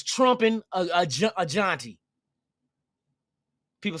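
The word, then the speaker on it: Jeanty: get two of them, hey, it's trumping a Jonty. People say, why you call him Jonty? That's the correct pronunciation of his name. I had to look it up. Because they're Gentry, I'm hearing all kind of shit.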